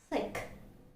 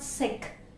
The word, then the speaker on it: thick: Second is thick. Thick. Okay, it's not sick. It's thick.